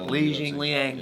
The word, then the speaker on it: Li Jingliang: Li Jingliang.